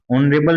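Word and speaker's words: honourable: ही it's blank ओरेबल मैन। तो आपको ओरेबल के अकॉर्डिंग आर्टिकल फिल करना है। तो ओरेबल में हम इसके साउंड पर जाएंगे तो वोवेल साउंड आ रहा है। इसमें एच साइलेंट होता है।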